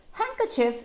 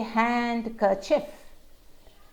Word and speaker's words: handkerchief: sandwich wednesday handsome well handkerchief is another one where there is no d sound we don't hear that we don't say hand kerchief it's handkerchief no d at all moving on to the